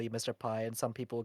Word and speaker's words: MrP: some people who actually mispronounced my name as mpy like right instead of Mr P cuz there's no there's